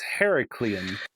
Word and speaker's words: Herculean: whatever herculean homunculin herculean no it's more it's heraclean because it's more like heracles oh okay yeah who